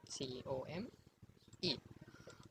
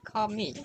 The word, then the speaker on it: come: So, C-O-M-E. So how do you pronounce it? I'm certain sure that you will say come, not come me, not come because E is silent here.